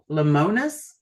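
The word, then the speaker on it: Lemonis: Lemonus. lemonous. Lemon. It's It's lemon is is, but it's all one word.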